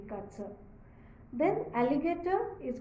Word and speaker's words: Katze: d Hound then comes cat C cat is kza k a t z e kza then alligator is called as aligator though the